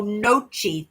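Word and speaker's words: gnocchi: The G is so nochi.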